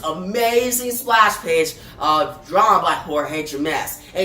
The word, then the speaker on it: Jorge: I used to say George Jimenez, but then the whole Batman Batman Joker War panel, I found out you pronounce it Jorge, but still, Jorge does a great job here.